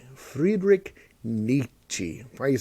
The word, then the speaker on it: Nietzsche: kill you makes us stronger um by friedrich nietzsche friedrich nietzsche why are you saying it like that because